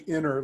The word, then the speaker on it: EnerBank: It's actually inner, like energy, Interbank. Like energy, yep.